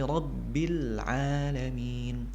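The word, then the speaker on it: العالمين: Kemudian masih sama kasusnya di huruf lam yang disukunkan. Jangan sampai kita membacanya dengan ada pantulan. Hirabbil bil, jangan sampai seperti itu. Rabbil alamin. Setelah membaca lam langsung dimasukkan ke huruf selanjutnya. Al-alamin ke huruf ain.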